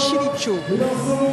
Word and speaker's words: Silico: Le nom du groupe me rappelle un mot amérindien qui signifie étoile nouvelle, mais qui se prononce Chilicho.